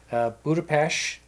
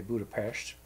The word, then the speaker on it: Budapest: Budapest, or Budapest as it's spelled, but there they say Budapest.